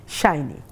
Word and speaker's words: সাইনি: শাইনি, ঠিক আছে, কারণ নামটা হচ্ছে মানুষের সবচেয়ে প্রিয়। এখন যেহেতু দন্তস্ব দিয়ে আছে, আমি একটু কনফিউজ যে সাইনি না শাইনি।